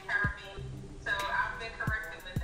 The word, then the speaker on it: Caribbean: Usually quote unquote Americans say Caribbean. And it's like, no, it's Caribbean.